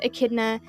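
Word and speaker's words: echidna: Uh the word akidna comes from the Greek akidna. Um there's not much of a difference in pronunciation there.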